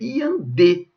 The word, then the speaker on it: iandê: Não, gente, é iandê. Sílaba tônica é a última.